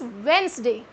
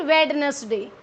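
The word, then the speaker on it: Wednesday: में थे state has इट्स वेनसडे note वेडनेसडे इस रिपोर्ट में वेनसडे एंड फूल क्या करते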